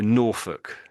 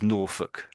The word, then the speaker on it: Norfolk: So, Norfolk. Nor. That's it. And so it's just nor and then folk you could say, but we sort of say it as Norfolk. Norfolk.